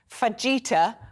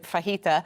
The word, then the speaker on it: fajita: mayak um Fenn says people that mispronounce words fajita where they pronounce the j instead of fajita same with jalapeno my